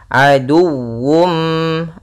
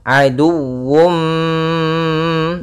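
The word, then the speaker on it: عدو: Nah, di sini harus dibaca juga dengan sempurna wya dengan tasydid. Aduwum. Aduwum.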